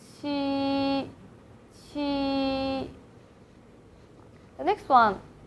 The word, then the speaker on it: qī: We'll say like Chi, Chi. So again, put your tongue against the hard palate, and then leave it and let the strong air comes out. We can use English again, like cheese.